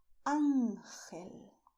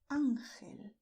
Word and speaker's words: ángel: In Spanish, we say ángel, ángel, because you see here, this symbol is telling us to stress ángel.